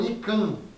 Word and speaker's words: ICANN: É o ICANN. ICANN. I-C-A-N-N. O ICANN. Eu chamo de ICANN. A pronúncia é em inglês, assim, do mas no portunhol, para mim, é ICANN.